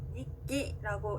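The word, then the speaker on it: 日記: 예를 들어서 일본어 단어 일기를 읽을 때는요, 니끼라고 읽는데요. 자, 키는 카행이죠. 카행 앞에 왔기 때문에 기역 받침처럼 소리가 납니다.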